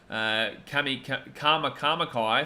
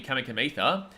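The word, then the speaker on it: Kamikamica: Kama Kamakai for Tui Kamikamitha. But the thing is, I understand the C. Obviously, C in Fijian is pronounced TH.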